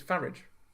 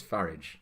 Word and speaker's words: Farage: It's Farage. It's Farage to rhyme with garage. We've been over this. It's Farage.